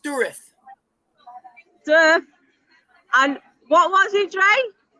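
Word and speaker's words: Dourif: It's actually pronounced Durith.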